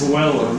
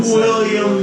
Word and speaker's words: Willem: It's Willem, Dafoe. yeah. Is it? And it's Turpin. 28 years I've been William Dafoe. Yeah. It's Yeah, if you Bill. look at Bill Dafoe, old Bill. even the way it's spelled, it doesn't have the I-A-M. It's like, Willem.